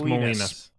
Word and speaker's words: Molinas: It's Molinas.